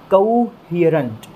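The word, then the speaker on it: coherent: और यहाँ पर जो स्ट्रेस हमें देना है वो एक बार फिर से ह वाली साउंड पर देना है दोस्तों।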